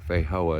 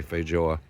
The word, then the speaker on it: feijoa: It's spelled f e i j o a but it's not foa. It's it's actually Portuguese pronounce it J. Fjo.